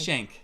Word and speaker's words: Schenck: call for passenger jury how do you say your last name shank shank thank you for passenger jury shank booked on flight 444 to planet 55.